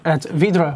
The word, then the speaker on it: Vydra: VYDRA. It's pronounced as the Russian one with Otto that I can't properly say because I'm not Russian and therefore cannot roll my R's properly.